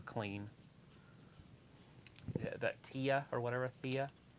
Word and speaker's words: Thea: that Tia or whatever Thea it's t-h-e-a it's the a I think they pronounce it TF yeah I call it the a and it looks like